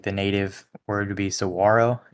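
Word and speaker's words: saguaro: is the carnagia gigantia saguarro cactus or um some the technical pronunciation would and like the native word would be sawro. You don't actually pronounce the G, but pretty much everybody pronounces the G.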